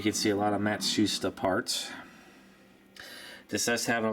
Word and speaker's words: Matsushita: You know, Panasonic, I always used to call it Matsushita. Turns out I think it's pronounced how do you say it? Matsu. I can't even say it now. Matsushita. That's it, Matsushita.